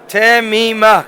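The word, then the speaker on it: תמימה: I know a nice girl called Temima, but this word is properly pronounced Temima.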